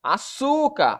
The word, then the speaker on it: açúcar: Açúcar, a sílaba tônica é a penúltima.